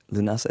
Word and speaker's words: Lughnasa: Lunasa is the Irish ga pronunciation for the word for August.